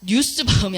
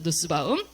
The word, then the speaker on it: 누스바움: 제가 오타를 냈는데 뉴스바움이 아니라 보통 누스바움이라고 읽습니다. 마사 뉴스바움은 뭔가요? 누스바움입니다. 누스바움.